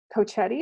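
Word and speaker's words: Cochiti: pueblo potter and um cochetti i think is how you say it and these are really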